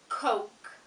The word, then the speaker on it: Coke: This word is pronounced Coke, Coke, Coke, Coke. So as you can see, we've got two syllables, not one, and it's an O sound, O. So you've got a diphthong again.